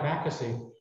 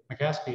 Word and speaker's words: Mackesey: us so uh but with the name like makkasy i could get a restaurant reservation i was telling the table because i could just mispronounce my name to mccaskey and i got reservations